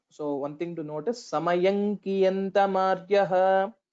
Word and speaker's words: समयं कियन्तमार्यः: So one thing to notice, Samayankiyantamaryaha. So when we pronounce that, both the lips will not touch together.